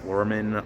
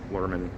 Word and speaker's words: Luhrmann: I think Braz Luhrmann, I think that's what his last name is pronounced, Luhrmann.